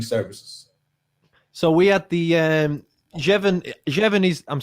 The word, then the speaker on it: Jevon: Yeah, good afternoon, good morning to you, Jevon.